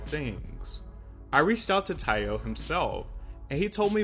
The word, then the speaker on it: Taio: about a hundred times it's thai like kai or tai not tae like bae also umbrella was passed